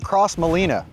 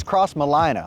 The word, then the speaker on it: Crossmolina: for starters it is not cross Molina it's cross Molina like South Carolina I think I said